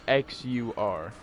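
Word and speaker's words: Xûr: It's spelled. His name's spelled X-U-R.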